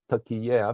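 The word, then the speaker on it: Türkiye: are dialogue Partners so right now turkey is pronounced as turkey air because uh they do not want the country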